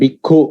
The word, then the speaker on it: bhikkhu: And bhikkhu also, normal K pronounced as ka, and the next one with the KH is k, right?